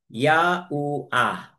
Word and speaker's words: Yahua: po ni Aba Yahua ya ha u ha na kung ating bibigkasin po yan po ay ya plus ah itong Ha is ah po yan then u and then another ah kaya magiging ya u ya u a yaua po ah ang ating aba